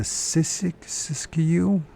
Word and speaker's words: Siskiyou: So if you guys ever heard of the Siskiyou complex of mountains at the point far beyond that which even the Amerids had previously penetrated.